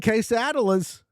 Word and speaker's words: quesadilla: Creston says it's pronounced quesadilla and crocodila.